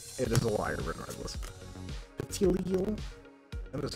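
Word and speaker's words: Petilil: Petilial? That is how you pronounce that.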